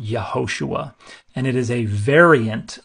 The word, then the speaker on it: Yehoshua: But Joshua wasn't pronounced Joshua anciently. It was pronounced Yehoshua.